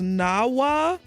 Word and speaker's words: Nahuatl: The proper pronunciation though is Nawa. The TL is pronounced like a tongue click, but it's silenced in the last word. It acts like a period.